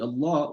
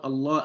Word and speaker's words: الله: So the lam that comes right after the alif al-wasli is a lam sakin, right? It's a sakin. It's not being pronounced.